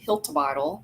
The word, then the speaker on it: Hiltibidal: I'm your host, and today I'm super excited to be interviewing Scarlet Hiltle.